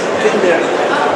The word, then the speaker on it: Kenmeri: Et donc, les Japonais l'ont appelé la Kenmeri. La prononciation exacte, c'est Tout à fait, Kenmeri. Kenmeri. Oui, c'est ça.